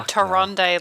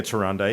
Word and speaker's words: Tyrande: how you called her Taronde, like she's Harambe. Like, she's like, can you think? No, It's actually, the Tyrande. reason why I'm calling her Tyrande is because now that there's actually a voiceover